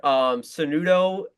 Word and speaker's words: Sanudo: So you guys can find me on my Twitter, Sanudo. It's not the easiest name to pronounce, to spell, but it's SANUDO underscore, and that's on X, Sanudo underscore.